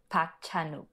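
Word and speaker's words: Park Chan-wook: necessarily expect so yeah the handmaiden 2016 director Park Chan wuk I can say that it's pronounced P chanuk oh I like to be on the record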